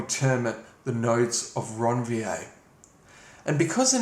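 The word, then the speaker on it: Ranvier: ronier and uh Ron I'm not PR pronouncing that to be pretentious uh ronier was actually a French physician who identified these little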